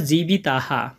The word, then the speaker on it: জীবিতাঃ: তাই এখানে হবে ই অ মানে তয় রসী অন্তস্ত তিয়ক্ত এরপর জিবিতাহা আমরা আরেকটা জিনিস জানবো শেষে যদি বিসর্গ থাকে